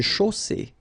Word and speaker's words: chaussée: Une chaussée. Okay, here, final not pronounced. And then you get the double S between two vowels, so it's really strong. I mean, the S is s.